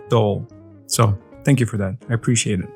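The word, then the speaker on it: Dole: this and they said it's like pole but instead of P you put the D so it's like dull so thank you for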